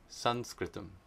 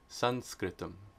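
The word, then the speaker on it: संस्कृतम्: And then, of course, have to explain why Sanskritam was spelled with the M with the dot underneath it and pronounced like a na, because it's Anuswara. Sanskritam. Sanskritam.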